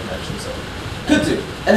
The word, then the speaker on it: kudzu: So kudzu. And how do you spell that? Guess, anyway. Yes, that. K-U-D-Z-U. Yay, kudzu. So the Z sound is pretty much a Z.